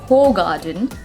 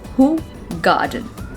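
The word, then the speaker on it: Hoegaarden: beer and the but the correct pronunciation of this word is not whole garden the pronunciation of this word is who garden who god i don't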